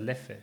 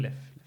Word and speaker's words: Leffe: Leffe. Mhm. Leffe.